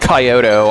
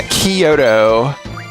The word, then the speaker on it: Kyoto: Like if I hear another if I if I hear another tourist pronounce it coyoto, I'm going to flip my dude. Yeah, Kyoto.